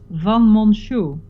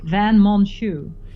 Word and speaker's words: van Monsjou: And my surname is Van Monsjou. In English, Van Monsjou. Van Monsjou. Van Monsjou.